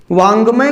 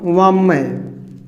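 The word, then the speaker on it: वाङ्मय: वांग्मय को अगर आप ऐसे कर दें वाममय, तो वास्तव में आप देखते हैं कि जो उच्चारण यहाँ पर हो रहा है, वो उच्चारण की ध्वनि यहाँ आपको नहीं मिल पा रही है।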